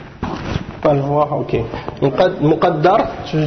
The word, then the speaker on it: muqaddar: il est zahir ou muqaddar. Tu peux le voir, ok. Muqaddar, tu veux savoir comment ça s'écrit? Mim, qaf, dal, ra. Mais il y a une shadda sur le dal. Alors, ça c'est muqaddar.